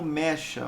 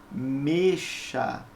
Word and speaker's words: mecha: mecha ah ah é ela tem um som fechado então você não produz como mecha você produz como mexa tá bom a pronúncia fechado igual a mexerico Albert é porque que